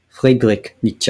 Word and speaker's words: Friedrich Nietzsche: Friedrich Nietzsche, if I want to say it properly, which I do, which I just did.